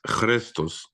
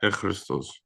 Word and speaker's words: Ⲭⲣⲓⲥⲧⲟⲥ: It's Christos, not Echristos. We've happened to have this habit of pronouncing as Ich, but it's really Christos.